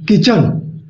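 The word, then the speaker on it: kitchen: अभी जब टी सी एच एक साथ आता है तो उसमें टी साइलेंट होता है, यानी कि टी का उच्चारण हम नहीं करते हैं। जैसे के आई टी सी एच ई एन, किचन, यहाँ पे टी का उच्चारण नहीं हुआ।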